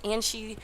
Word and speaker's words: Anshi: And yes, after 4 times of casting Max Play Highlander team, I have finally remembered to pronounce Anshi correct. I have no idea how that it comes out to be Anshi, but that is what YouTube comments told me.